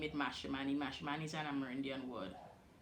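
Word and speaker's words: Mashramani: How do you pronounce the word for Guyana Carnival? Mashman, right? We have mash or Mashman, but we say mash for short.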